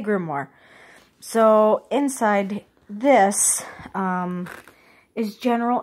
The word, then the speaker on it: grimoire: here and then my grimoire some pronounce it grimoire I guess it just kind of depends on where you're from and whatnot but first I'm going